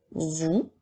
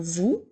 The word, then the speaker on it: vous: nous avons le mot vous qui doit maintenant épeler le mot vous sans oublier la lettre muette à la fin alors c'est maintenant le